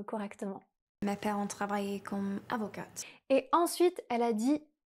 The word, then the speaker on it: avocats: le T est muet et le S du pluriel aussi. Donc on va dire simplement « avocat ». Si on dit « avocate », alors on parle d'une femme avocate au féminin.